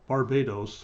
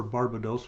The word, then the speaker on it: Barbados: The basic storyline is that a washed up boat captain gets tricked into taking a couple British singers to Barbados, or Barbados, whichever you want to pronounce it.